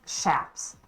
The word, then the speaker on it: chaps: wear uh chaps well they're actually pronounced shaps per my trainer but they are meant